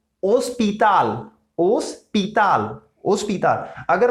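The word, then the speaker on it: hospital: और अगर यहां पे भी सेम है, एच साइलेंट, ओस्पिताल, ओस्पिताल, ओस्पिताल।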